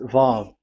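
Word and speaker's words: ו: So it's V as in Vogue. So it's really V. How to read Vogue? So the word, the shape Vav is really pronounced V, like Vogue. That is it, pronunciation. So here in this side, it's pronunciation. This is pronunciation. So according to the old Hebrew word today, those who, the owner of the words, I mean, so it's a V. So don't change it into W.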